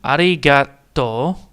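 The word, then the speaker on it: ありがとう: So we have a, ri, ga, do, and then the U is not spoken out again.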